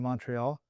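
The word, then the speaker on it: Montréal: when you jump into Montreal and suddenly all the stop signs have become a you don't say the T. Yeah, the T is silent.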